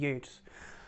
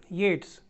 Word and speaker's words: Yeats: a poem by wb yates pronounced as yates not eats okay well let's first